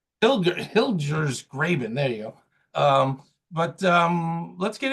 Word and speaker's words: Hilgers Graben: colleague Rose Jones has joined us today from Graber's. I'm going to mispronounce the firm, but Rose can introduce. Hilgers Graben. Hilgers Graben.